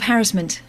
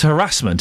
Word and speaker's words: harassment: I accuse you of harassment. And it's not. It's harassment, isn't it? Yeah. You've got me stumped on that because I was trying to think now what is the old what is the correct form? And I I think that means that that really they're both correct. I think I'm feeling harassment might be the older form, but I mean harassment is the correct form.